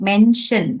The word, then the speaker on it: mention: Okay, little bit of problem in Okay, pronouncing, yeah, yeah, because son, all the words, okay, that, for example, mention, okay, it has that sh ka sound, mention, okay, but when mention.